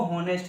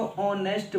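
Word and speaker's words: honest: देखिए कॉन्सोनेंट है, लेकिन हिंदी लिखो कैसे लिखोगे, इसको हॉनेस्ट नहीं कहते, इसको ऑनेस्ट बोलते हैं।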